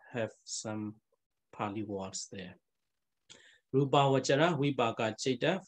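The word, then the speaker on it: rūpāvacara: Pali pronunciation, you know, in Myanmar, we pronounce Rupa Vasara, Rupa Vasara, but actually actual pronunciation, Pali pronunciation, must be Rupa Vajara.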